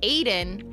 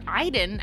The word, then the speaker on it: Aiden: We learned through the experiment that Jod is connected to an entity Aiden or Iden as they like to pronounce it who he can control to travel to other rooms, move objects, and even possess others.